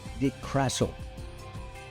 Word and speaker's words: DeCrassel: And we'll be talking with, and I hope I pronounce his name correctly, Peter G. DeCrassel. Is that close? It's very close. It's perfect.